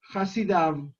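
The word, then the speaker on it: חסידיו: En el texto escrito, tal y como llegó a nosotros, se escribe Hasidó, pero nuestra tradición nos enseña Hasidav, y la diferencia es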